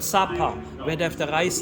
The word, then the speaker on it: Sapa: It's called Sapa, where they have the rice terraces. That's another area, Sapa.